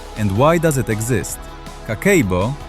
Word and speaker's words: Kakeibo: Kakeibo, pronounced Kakeibo, translates from Japanese as household financial ledger, but the translation doesn't do it justice because Kakeibo isn't just a ledger.